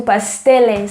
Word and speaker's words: pasteles: let's move on to pasteles so there are so many pastels there how do you say like how they say pastels i'm back after a little google search pasteles or like pastry so um so you